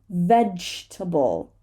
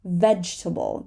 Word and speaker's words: vegetable: temperature Theory Theory and vegetable vegetable there is no table in the word vegetable so good job now